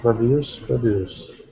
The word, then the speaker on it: produce: So it's going to have the stress on the beginning, the first syllable. The verb has it on the second syllable.